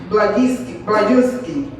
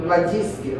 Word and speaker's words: Blazejewski: Red Jacqueline Blazejewski. I'm sorry, I say it wrong. Blazejewski, right?